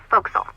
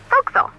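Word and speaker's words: forecastle: ship, but it's pronounced folks. Why is that? Try pronouncing it like an English sailor with no formal education. Bow castle. Folks, over time, it whittleled down.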